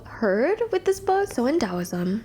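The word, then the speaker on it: Taoism: with this book so owsm which is spelled t a o i SM or pronounce with the D in dosm the da translates to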